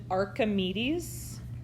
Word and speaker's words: Archimedes: two yes this is a spiral of we pronounce it archimedes spiral of archimedes what about number three this